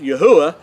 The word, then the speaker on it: Yahuah: became to understand that his name is pronounced yahuwah and that is actually